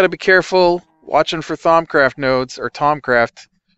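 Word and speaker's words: Thaumcraft: not a tricky word it just spelled like you wouldn't expect it to be pronounced it's t h u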